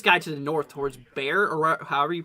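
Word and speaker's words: Barre: let's go to your Daniel says it's pronounced like Barry um oh okay I got you so it's berry berry Massachusetts gotcha okay so yeah Barry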